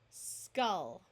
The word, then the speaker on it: skull: sound of f thankfully here are some words that use the short u sound even though they look like they would rhyme with pull and full dull skull Hull dully so we